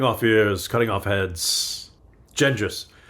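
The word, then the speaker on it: Genghis: ears cutting off heads gendis only the Philistines pronounce it genas Greg that's exactly correct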